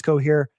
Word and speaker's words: Cohere: them uh before uh rhymes with cooh here that's because it is cooh here uh what did coher